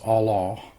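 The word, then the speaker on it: עָלָה: It's pronounced Allah.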